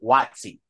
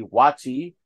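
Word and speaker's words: WotC: Wizards on the coast they call it waxy uh is taking all the initials together but I'd rather say Wizards because some people say watchy and they add the information uh inflection that it rhymes with the other Infamous n-word so so uh what Wizards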